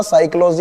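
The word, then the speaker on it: psychology: अगर लगाया है ऑप्शन नंबर ए, फिजियोलॉजी नहीं होता, साइकोलॉजी होता, पी साइलेंट रहता, मनोविज्ञान।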